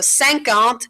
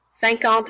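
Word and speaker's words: cinquante: so you pronounce it like sank alt so notice any number that ends in this a and t e so anyone that ends in a and t e kind of sounds like ant at the end so that helps you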